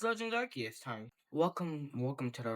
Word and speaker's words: Arceus: See, it's not Arus. Following the pronunciation, I'm going to say this right now. It's pronounced Archus. Following the pronunciation of the Arc phone is either Archus or Ar or Arcus.